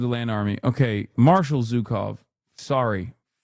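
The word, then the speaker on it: Zhukov: Historically speaking, this is Zukov, not Zuko.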